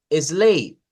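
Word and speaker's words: sleigh: tiene que hacer es descartar la gh no suena la gh y solo va a sonar la e y la siguiente la siguiente en ese caso es una consonante entonces va a decir e en ese caso no hay consonante entonces solo solo decimos slay y no agregamos nada más entonces en este caso lo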